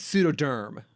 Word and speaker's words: pseudoderm: i miss pronouncing things i think it's pseudoderm pseudoderm like like pseudo as in fake and derm as in skin yes i was like